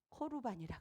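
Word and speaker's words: קרבן: 이거를 고르반이라 그러는데 히브리 발음으로는 코르반이라 그래요.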